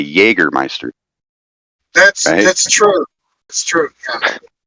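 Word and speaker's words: Jägermeister: j they have a Jager right but it's pronounced Jaeger like how do you say you don't say j or Meister you say Jagermeister that's that's true that's true so I mean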